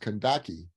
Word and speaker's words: Candace: them kandaki rulers and we spell It Candace c-a-n-d-a-c-e but it's pronounced kandaki rulers and one of